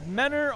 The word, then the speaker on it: Mentor: to apologize to him pronounced a little differently there is no I mean there is a T in the word but it's not pronounced so it is men or Ohio so in the meantime